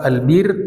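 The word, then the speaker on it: البِرّ: Albir ada dalam bahasa Arab albir ada, Albur, ada, Albar. Kalau kita enggak tahu bahasa Arab itu salah-salah baca itu karena kitabnya gundul. Kapan dibaca albir, kapan dibaca albar, kapan dibaca albur, dan apa artinya. Masih banyak yang salah baca. Kalau albir itu artinya al-ihsan, kebaikan.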